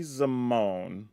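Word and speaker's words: Zimone: way I thought this was pronounced zime at first and maybe that's just my black side coming out I swear Zim just made more sense to me and then when R&D I heard them pronounce it actually as zamone I was like oh all right it's just zamone then that's why sometimes I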